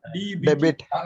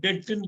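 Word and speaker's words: debt: சார் இதை எப்படி படிக்கலாம் டிபி டெபிட் டெபிட் இல்ல இதை எப்படி படிக்கணும்னா டெட்ன்னு படிக்கணும்னு படிக்கக்கூடாது நான் ரெட்ல போட்டது படிக்கக்கூடாது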